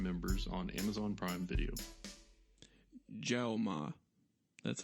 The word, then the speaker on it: Jaume: Jaume. That's how you pronounce it, the director's name.